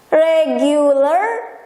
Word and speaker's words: regular: Regular, reguler.